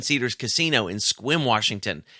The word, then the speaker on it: Sequim: 7 Cedars casino in Sequim Washington it's spelled sequin but they pronounce it's quim because the weird people and December the 21st